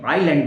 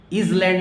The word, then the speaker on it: island: नए बच्चे इसको इजलैंड पढ़ते हैं, इसको आइसलैंड बोलते हैं, नहीं सॉरी, आइलैंड बोलते हैं। आइलैंड, इसको क्या बोलेंगे, आइलैंड, ISLAND। इजलैंड नहीं पढ़ेंगे, क्या पढ़ेंगे, आइलैंड, आइलैंड।